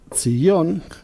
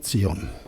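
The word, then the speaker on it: ציון: Y esto se puede transliterar de esta manera, Sion, pero con el tiempo, Sion, esta Y se pronuncia como una Y pero muy suave, esto acabó siendo Sion.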